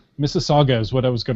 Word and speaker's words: Mississauga: I think it's Mississauga. Mississauga is what I was going to go with. It's like Mississippi, but with an auga at the end.